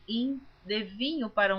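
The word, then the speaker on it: him: por Neuza Baldini, que esta palavra hin está escrita H-I-M. Algumas pessoas pronunciam rim. Eu pronuncio como está escrito hin, porque a Bíblia que eu estou lendo é em português, toda leitura em português.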